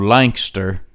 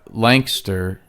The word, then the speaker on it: Lancaster: But I found out the joke's on me because Lancaster is actually a Scottish word, and that's how it's pronounced.